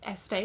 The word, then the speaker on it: Estée: I thought how did Estee Lauder come about but este is a check pronunciation of st that's how she got the